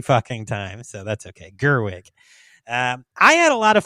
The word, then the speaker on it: Gerwig: I mispronounce it every fucking time, so that's okay. Gerwig.